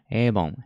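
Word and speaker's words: 일본: の端は日本日本はどう発音するかというと avon エイボンが発音しますせぬ発音聞いてみるとエイボンいい本いい本エイボン avon エイボンエイボン avon エイボン avon エイボンっていう感じですね avon エイボンが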